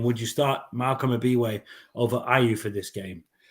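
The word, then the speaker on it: Ebiowei: I think Abiwe. I watched the video, so I know how to pronounce his name now. Abiwe is.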